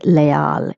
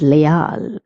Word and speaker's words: leal: The word leal some people pronounce is le because they're doing the English pronunciation but it is not le it is leal. Okay? Because the e is pronounced as a and a is pronounced as a. Hence the pronunciation of this word will be leal.